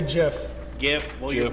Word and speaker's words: GIF: It's pronounced GIF because you don't go to the GIM and it's not a giraffe, right?